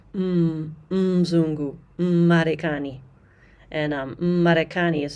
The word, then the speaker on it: Mzungu: So for example, Muzungu, many beginners will say Muzungu. If you do that, people are definitely going to know that you don't know KiSwahili. So it's Mzungu, Marekani.